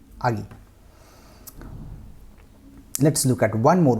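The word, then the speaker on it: 아기: what i am trying to say aagi not aki agi let's look at one more word so here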